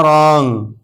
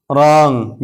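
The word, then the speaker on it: wrong: इसी तरह रॉन्ग रॉन्ग यहां भी आर से पहले डब्ल्यू है तो डब्ल्यू साइलेंट है।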